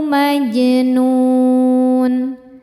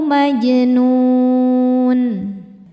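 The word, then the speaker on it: مَجْنُونٌ: Jimnya hukumnya qalqalah sughra karena jimnya sudah sukun asli dan berada di tengah bacaan. Dibacanya memantul, pantulannya kecil. Au majnun.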